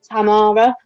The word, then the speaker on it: Tamara: They're going to pronounce it Tamara when you you hear the commentary. George, don't don't get confused. It's the the same Philly. I I would call her tomorrow as well, but they have these peculiarities of pronunciation over there.